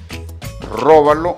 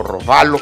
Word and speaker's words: robalo: Mientras tanto, vamos a ver, vamos a tomar nuestro filete de róbalo o robalo, como usted le quiera decir. Ambos son aprobados, ambas pronunciaciones son aprobadas por la Real Academia de la Lengua Española.